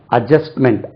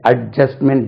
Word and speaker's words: adjustment: budget அது budget சொல்லக்கூடாது. budget adjustment adjustment D உச்சரிக்க கூடாது.